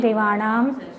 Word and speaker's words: देवेन: देव देवान दतिया देवेन उच्चारण ध्यान में रखिए देवेन पूरा हैन हलन तो नहीं बोलना उसको देवेन बोलो देवेन देवा देवा